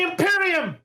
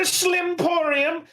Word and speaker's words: Imperium: It is the Imperium. The Imperium of Man, not the Slimporium, not the Bimporium, not the Bempire, the Imperium of Man.